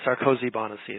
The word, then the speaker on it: Sarkozy-Banoczy: don't know about that it's a lot of consonants sarosi bonesi is the way it's pronounced that's great thank you